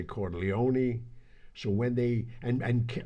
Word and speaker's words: Corleone: pronunciations what's your thought the uh corleone without the pronunciation of the e is the bachelor dives american version that's what i said